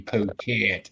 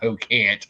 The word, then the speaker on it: Pocan: Are you Pocan or are you Pocant? And I always say my name is Pocan, not Pocant.